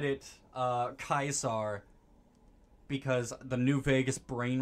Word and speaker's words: Caesar: to me is that kaisar is actually the correct way to say it but even Joshua says it like Caesar okay so can we actually